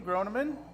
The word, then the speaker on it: Groneman: This is Groneman.